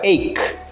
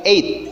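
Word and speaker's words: eight: Perhatikan untuk pengucapan 8 GH tidak dibaca. Jadi bukan ache, bukan ache ya, tapi 8. Ingat yang sering Parian bilang 8.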